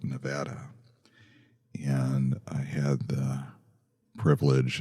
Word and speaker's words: Nevada: I understand it's pronounced Nevada.